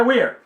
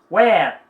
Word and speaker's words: we're: Muitos professores e professoras costumam ensinar errado também, dizendo que a pronúncia é we're. Não. Não é we're. Where. Where. Existem palavras, your e where, que nós vamos virar para frente, tem a mesma pronúncia, só escreve diferente e possui um outro significado. Mas é where.